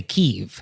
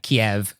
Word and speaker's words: Kyiv: political and like charged, like the city of Kiev. You could say Kyiv if you want to do the Ukrainian pronunciation. Oh, wow. And so you're actually making a choice. If you say like Kiev to a Ukrainian person, then you're like, oh, I'm going to say the Russian pronunciation.